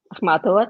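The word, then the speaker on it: Ахматова: And as for Russian poets, even recently I was reading, you're going to have to help me with pronunciation, Zamira, Akhmatova. Akhmatova, that's right.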